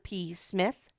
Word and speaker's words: Psmith: I don't know that I can say that Mr. P. Smith. The P is silent as in shrimp.